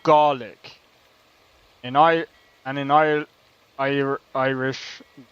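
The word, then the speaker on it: Gàidhlig: The Scottish Gaelic name for the language is I am not pronouncing that which is pronounced garlic.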